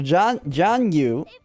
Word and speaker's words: Zhang Yu: So Zhang Yu. The G is silent. Okay. Like completely.